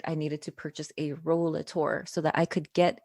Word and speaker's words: Rollator: And I hear different pronunciations, but the official, what looks like on Google dictionary pronunciation is Rollator.